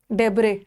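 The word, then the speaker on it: debris: Siesta, डेब्रे, डेब्रे इसका है silent.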